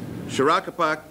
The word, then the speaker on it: Shorakapok: Shorakapok Natural Area.